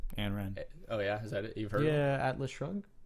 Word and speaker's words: Ayn Rand: So there's a cool quote by, I don't even know how to say this name, Ayn Rand. Ayn Rand.